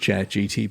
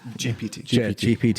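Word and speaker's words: ChatGPT: Did I say it right? ChatGTP? GPT, because Andrea keeps calling me out saying it wrong. She's like, you said it wrong like 3 times in your podcast last week. I was like, whoops. Andrea, he said GPT. Yeah. We're landing on GPT.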